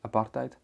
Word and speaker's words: apartheid: situation and during apartheid um and just to pronounce that probably or properly apartheid um there's quite a few interesting bits of